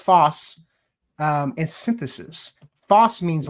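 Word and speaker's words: φῶς: So photosynthesis is derived from the Greek words fos which is pronounced foss um and synthesis.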